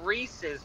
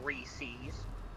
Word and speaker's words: Reese's: It's Reese's, not Reese's. That, well, not even, like, LaCroix is how everybody says it.